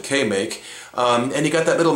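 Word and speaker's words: KMAK: It's actually K-M-A-K, but they pronounced it K-Make.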